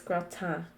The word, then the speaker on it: gratin: AU makes the O noise in French. Ends are a... If the consonant is at the end of the word, it's usually a soft consonant or not pronounced. So T's, N's, they're very soft, so it's gratin, like a nasally N.